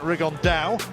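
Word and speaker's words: Rigondeaux: he's talked about fighting rigondo or as he's correctly pronounced with the uh spanish accent rig on dow and look two absolute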